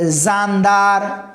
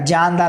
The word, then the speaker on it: جاندار: اگر بچہ بول رہا ہے زاندار، تو زاندار تو جیم سے ہے، لیکن زا کا تلفظ تو ہے نا اس میں، تو کیا سکھایا جائے گا؟ جاندار. بیٹا جیم سے ہے، اور جیم کا تلفظ کیا ہے؟ جا، زا نہیں ہے.